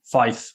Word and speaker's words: Faeth: mentioned the name and pronounced it perfectly Fife Therapeutics uh Fife is a Welsh word and I'm from Wales